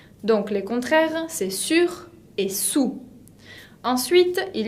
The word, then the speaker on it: sur: Sur. Et sous significa debajo. Sur et sous. Attention à la prononciation, parce qu'ils sont très similaires. Sur, de arriba, el que está encima, tengo que escuchar la R final.